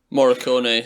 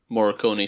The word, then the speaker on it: Morricone: I apologize if I don't pronounce this properly, but it's Ennio Morricone or Morricone. Morricone.